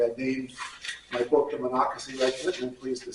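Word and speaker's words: Monocacy: And there was a bridge over what they called Monakasi River. That's how you pronounce it. By the way, I named my book the Monocy Regiment, and I'm pleased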